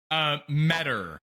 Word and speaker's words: Meador: Meador. Meador. Like Meador is better with cheddar.